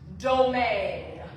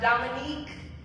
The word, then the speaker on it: Domingue: My name is pronounced Domingue. Think lemon meringue, okay? I want you to be able to say it right. It's not Dominique, it's not Dominguez. Those are lovely names, but they ain't mine, okay?